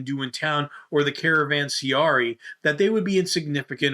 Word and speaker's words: Caravanserai: The Caravanserai.